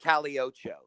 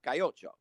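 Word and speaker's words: Calle Ocho: Spanish, because people here, they don't say caliocho. They say cayocho, and everybody knows how to pronounce it.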